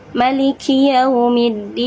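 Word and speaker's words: مَلِكِ يَوْمِ الدِّينِ: yaitu di Maliki yaumiddin Nah itu dibacanya tidak dipanjangkan gitu jadi enggak di panjangkan gitu pendekkan aja seperti ini contohnya Maliki yaumiddin nah seperti itu Jadi enggak boleh malikiiki yaumidin Enggak boleh seperti itu harus Maliki yaumidin jadi seperti itu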